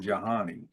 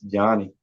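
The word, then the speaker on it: Johni: Is that how you pronounce his name? Is it I Johnny think or Jahani? it's Johnny Yeah, okay.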